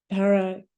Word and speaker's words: Paracelsus: And I should know how to pronounce the name of the man who said that, Paracelsus.